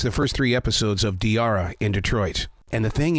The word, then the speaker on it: Diarra: first three episodes of diara in Detroit and the thing is is that I love Tiara I was saying it right then I yeah you are it's like Tiara but with a d you as a writer